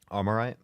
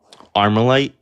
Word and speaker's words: Armalite: Armorite? Push the galaxy, thank you. You said it wrong. How do I say it? Armalite? You said armorite?